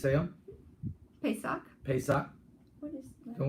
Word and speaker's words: Pesach: Pesach.